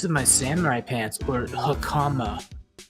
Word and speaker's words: hakama: It was caught in the pleats of my samurai pants, or hakama. It's pronounced Hakama.